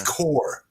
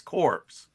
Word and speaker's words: Corps: It's core, Rex. Core. CORPS is pronounced. Not according to the president. It's Oh, Corp. It's God, Corp. Rex. It's not according to Obama. It's Corpse. Yeah.